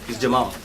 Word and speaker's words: Jamal: Is it Jamel or Jamal? Jamal is Jamal.